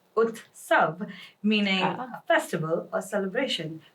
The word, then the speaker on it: Utsav: going to talk about that is utav pronounced as utav meaning a festival or